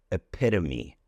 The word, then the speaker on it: epitome: Well, if you want to speak with a British accent, then it would be epitome. Then you would pronounce and emphasize the T there. But in American English, it would rather be a D sound.